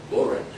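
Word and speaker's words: bodhrán: collection this is an Irish drum called a borin that's correct pronunciation talk to Mr Murphy and Su Pauls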